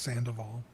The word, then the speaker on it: Sandoval: I know you're Canadian, but it's pronounced Sandoval.